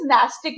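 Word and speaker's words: nastic: नास्टिक मतलब ये पूजा पाठ नहीं करते, प्रोनाउंसिएशन इज नास्टिक मूवमेंट.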